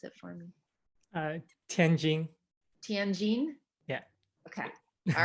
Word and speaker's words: Tianjin: where you were born would you like to pronounce it for me uh tenjin tianjin yeah okay all right close that's close simon